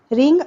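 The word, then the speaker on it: wring: turn कपड़े निचोड़ दो रिंग आउट वेट क्लोथ्स ध्यान देंगे यहां पर रिंग में डब्लू आर आई एनजी है स्पेलिंग डब्लू यहां पर साइलेंट है मैं पूरे समय उसके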